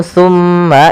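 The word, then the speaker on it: ثُمَّ: Maka langkahnya adalah ujung lidah kita tempelkan dengan gigi sari kita. sa si su maka summa. Kemudian pada lafal mma atau tsumma itu ada bacaan namanya ghunah yaitu suara mimnya ditahan sepanjang dua harakat.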